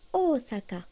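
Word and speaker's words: 大阪: Et tant que j'y suis, Osaka se dit Osaka avec deux O.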